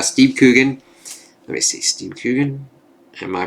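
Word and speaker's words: Coogan: played by uh Steve let me see Steam cougan am I pronouncing that correctly yes and then the B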